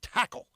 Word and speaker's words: Takl: It's called Tackle. It's spelled Takl.